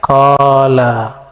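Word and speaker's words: قال: Ini nggak ada tulisan kolanya, nggak ada kan? Tapi ahli hadis membacanya kola. Dibaca kola itu.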